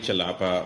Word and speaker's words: Chellappa: So u my name is pronounc chalapa.